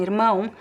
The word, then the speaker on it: irmã: on the accent because the R here is positioned at the end of a syllable, right? It's not followed by a vowel. And in this case, at the end of syllables or the end of words, the R can be pronounced in at least 3 different ways depending on the accent. So it could be irmã with the R in the throat.